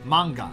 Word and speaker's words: manga: I explain this um they're the exactly the same word just pronounced in Korean Japanese and Chinese so manwa for for Korea Korea and uh Mana for China uh China and Taiwan and uh manga for for Japan obviously it's really cool